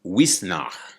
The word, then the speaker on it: Uisneach: And and I went to Wisnach. and like she is not spelled Shee, it's spelled some other kind of way.